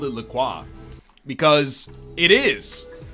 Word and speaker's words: LaCroix: Lacroix salud so today Lacroix officially tweeted out the proper way to pronounce Lacroix what do they say it's Lacroix yeah you feel like